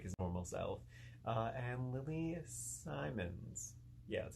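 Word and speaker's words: Lili Simmons: who looks nothing like his normal self, and Lily Simons.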